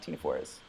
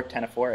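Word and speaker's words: ctenophore: people know much about Tina fors so this is a Tina for pronounce Tina for or 1004 if you're posh and like no more Greek this is Klara break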